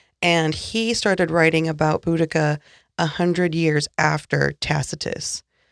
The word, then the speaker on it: Boudica: wrong for a while uh she was called buddhasia at first and it was uh discovered later the proper pronunciation of her name was boudica hmm there are two main literary sources that